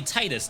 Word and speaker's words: Titus: Titus oh yeah I think it is actually Titus now right Square did uh Whatchamacallit a tweet giving the pronunciation for cat Sith and uh Titus my